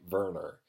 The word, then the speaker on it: Werner: and the German guy Verner it's spelled Werner but in the audiobook he pronounces a burner so the story goes